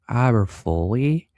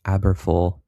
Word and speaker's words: Aberfoyle: Now near Farnham, tracking into north of Aberfoley, Corwine, Moffat. I see Atlanta's correcting my pronunciation, Aberfoyle.